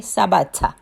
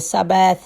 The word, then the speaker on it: Sabatha: In Bantu language, it's called Sabatha. Okay? Sabatha. Say it like that, Sabatha. But then the English say Sabbath, Sabbath, some call it Sabbath. They put it in, but it's Sabatha, right?